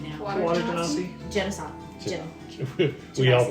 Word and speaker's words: genasi: Water genasi. Genocide. We all pronounce it differently.